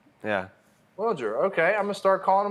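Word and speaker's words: Wilyer: So he pronounces it Wilger. He said he said, "Nice to meet you. I'm Wilagger." Yeah, Wilger.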